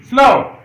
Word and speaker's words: slough: SLOUGH slow. Slow.